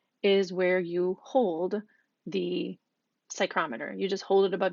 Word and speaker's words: psychrometer: that is called a psychrometer the P is silent so we don't pronounce that so it's sie Crom